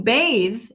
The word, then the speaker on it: bathe: a bath to take a bath a bath or a bathtub the th is not vibrating but to bathe as verb the th is vibrated that's cray-cray it's 50